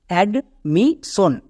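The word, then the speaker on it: admission: যেমন AD, অ্যাড। MI, এর জন্য কি হবে? মি। তাহলে কি হলো? অ্যাড মি। নেক্সট SION এর জন্য হয়ে যাবে সন। তাহলে একসঙ্গে বসিয়ে দাও, কারণ এটা ওয়ার্ড প্যাটার্ন সবাই জানছো। এবার একসাথে উচ্চারণ করো, অ্যাডমিশন, অ্যাডমিশন।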